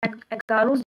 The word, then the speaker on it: agarose: उनको देखने के लिए हम यूज करते हैं जेनेटिक्स में या कह सकते हैं बायोटेक्नोलॉजी में एगारोस जेल को, या एग्रोस जेल प्रोनाउंस कर सकते हैं, एग्रोस जेल को थ्रू द प्रोसेस इलेक्ट्रोफोरेसिस।